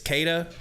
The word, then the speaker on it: Keita: First of all, is that how you say his first name? He said, yes, that's how you say it. It's Keita, I believe.